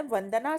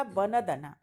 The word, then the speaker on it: वंदना: तो पहले गलत है, क्योंकि इसका उच्चारण जब हम करते हैं तो वंदना होता है, और सी वाले का वनदना, ये दोनों ही शब्द गलत हैं।